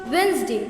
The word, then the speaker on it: Wednesday: do let the sneaky day fool you it's pronounced wednesday your wednesday just ignore that day like you